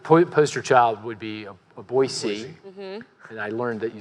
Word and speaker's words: Boise: The poster child would be a Boise. And I learned that you say Boise. Not Boise. Oh, shit. Yeah, Okay. right. I think that's right. The mayor of we'll check Boise you on it called later, me up like